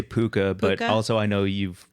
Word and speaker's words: puka: Puck a shell necklace is it pucker how do you say it we say puka but also I know